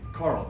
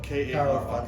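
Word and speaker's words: Karl: Carl Fander.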